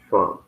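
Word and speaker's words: Schwamm: Sponge, और इसकी meaning है श्वाम। पर प्रोनाउंस कैसे करेंगे?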